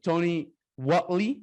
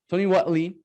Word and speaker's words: Tony Whatley: And today I have Tony Whatley. Is that cool, man? Is that how your name is pronounced? That's right. That's right. Cool. Tony Whatley.